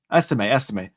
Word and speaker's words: Estime: Estime. Yeah, Estime.